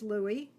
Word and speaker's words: Louis: lat and Louie is Louie the French pronunciation of Louis Armand is of course